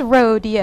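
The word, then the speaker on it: Roadeo: It's spelled R-O-A-D-E-O. I like it. Well, we have that too. Yes. That's rodeo.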